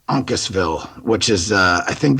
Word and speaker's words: Uncasville: um and there's a veteran Expo and it's pronounced Uncasville Uncasville which is uh I think that's the well